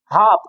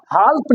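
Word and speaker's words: half: आ रहा होगा क्योंकि पाम पलाम नहीं हाफ हाल्फ नहीं बहुत सारे बच्चे इसको हाल्फ पढ़ते हैं हाल्फ नहीं होता क्योंकि एफ से पहले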